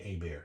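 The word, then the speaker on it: Hebert: Bobby AB Bears right it looked like it's it's spelled Herbert but it's actually a bear right so whenever us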